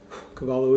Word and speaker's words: Cavallo: Again, this is the Cavallo, or I believe it's actually pronounced, if you're in Italy, the Cavallo. Cavallo is Italian for horse.